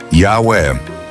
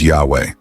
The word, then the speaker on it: Yahweh: Today, scholars believe the original pronunciation of YHWH was Yahweh. Why? Because it fits with Hebrew grammar and names like Eliyahu, Elijah, Yeshayahu, Isaiah, and others that preserve the Yah sound.